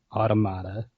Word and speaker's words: Automata: hate the fact that the game confirms your pronunciation do you know it says it once and you are correct it's automata just another reason this